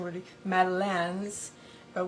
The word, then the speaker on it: Madeleine: The French pronunciation would be Madeleines, but we say Madeleine, just like a woman's name, Madeline, not Madeline, Madeleine.